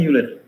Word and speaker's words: Euler: Ini bacanya Euler.